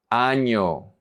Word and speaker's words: año: This is one of the characteristic sounds in Spanish. Año, año. If you don't pronounce it correctly, you're going to be saying something completely different.